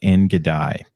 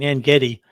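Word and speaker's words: En Gedi: Yeah, I don't know about the I pronounce it En-Gedi, but I actually participated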